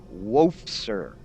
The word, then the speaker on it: Wofser: by uh someone who I think the name is pronounced wolf sir w-o-f-s-e-r if I mispronounced that